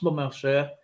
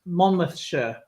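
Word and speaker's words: Monmouthshire: monash monmouth mon mouth sure it's not actually pronounced mumma sure it's pronounced monmouth sher um it's weird place uh stands out kills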